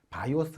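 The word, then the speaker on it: BIOS: 베이 적인 퍼다 of 시스템 이라고 하고 줄여서 바이어스 라고 읽습니다 pc 에 전원을 넣으면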